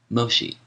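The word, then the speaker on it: Mōshi: volume 1 MOSI footnote MOSI the Japanese pronunciation of the name of the Chinese philosopher meni whom Europeans call menus end of footnote says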